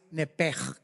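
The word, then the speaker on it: nephesh: Aquí en Génesis 35:18, la palabra hebrea original para alma es nepej. Se escribe nepesh.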